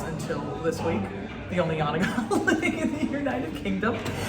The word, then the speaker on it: Janega: So saying YAN-uh-guh was as good as anything. So basically, if someone came at me with Janega, I'd say YAN-uh-guh. And they're fine with that.